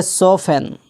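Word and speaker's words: soften: इस तरह सोफन, जिसका माना होता है तस्कीन देना, इत्मीनान दिलाना,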